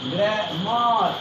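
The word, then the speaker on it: grammar: है ग्रामर या ग्रामर, क्योंकि आप जानते हैं कि वॉवेल के बाद are will be comes after a vowel, there are will be silent, वहाँ आर साइलेंट हो जाता है।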